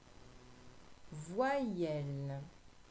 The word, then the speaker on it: voyelle: Voyelle, C'est le Y qui fait I. Dans voyelle.